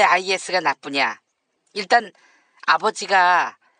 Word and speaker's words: IS: IS가 뭐지? 아이스 아닌가? 내가 어제 아이스라고 했잖아. 한번 들어봐. 아이슬도. 어때? 난 IS라고 하지 않고 아이스라고 했지? 아이고, 아이스라. 타임지를 팀에지라고 읽은 것 같은 그런 느낌을 주시네요. IS입니다. IS.